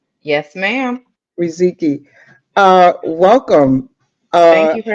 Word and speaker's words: Riziki: And tell me, Riziki, am I Yes. pronouncing it right? Yes, ma'am. Riziki.